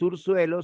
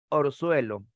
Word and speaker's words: orzuelo: Eso de déame y dame ya lo hemos visto, no se dice apéguense, sino júntense, júntense, no es ursuelo, sino es orzuelo.